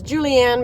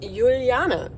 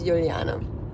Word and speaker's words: Juliane: In the United States, I tend to just say and introduce myself as Julianne because that's the easiest way to go. But in German, it's actually pronounced Juliane. Sometimes people merge it into a Juliana, which is fine as well. But the actual pronunciation of my German name is Juliane.